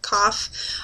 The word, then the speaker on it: cough: No, cough, cough. Oh, cough, like, well, cough, like, you have a cough, is not spelled like that. It's spelled with a silent G-H at the end.